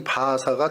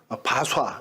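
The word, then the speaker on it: 바아사: 없을 때 갑자기 이 바하사가 등장해서 왕을 이제 모반해서 살해를 하죠. 바하사라는 사람을 잠깐만 설명드리면 그 이름의 뜻이 참 독특합니다. 바하사, 바좌 이렇게 이제 발음을 하기도 하는데 바알은 태양이다.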